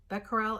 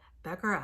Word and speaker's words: Becquerel: Becquerel, it's kind of important you know that, Becquerel, because later on we'll be talking about Becquerels, and they named something after him. But Becquerel, I think that's how you pronounce it. It's French, Henri Becquerel.